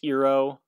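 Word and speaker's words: Iroh: aang is pronounced ong iro is pronounced ero i mean there's many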